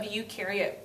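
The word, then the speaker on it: eukaryote: Remember u rhymes with do.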